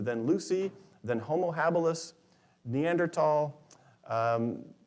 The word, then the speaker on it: Neanderthal: lucy then homo habilis neanderthal um the germans pronounce it with a hard t like my last name so neanderthal and and then modern